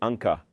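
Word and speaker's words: ankh: En realidad se lee anca, pero es un solo símbolo que significa vida eterna.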